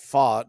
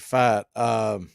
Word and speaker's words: Pfaadt: I think he actually pronounces it Fought, but those of us who in the fantasy baseball world pronounce it Fat.